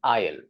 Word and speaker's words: aisle: word number two this word is called an Isle okay let me repeat the correct pronunciation of this word is is and what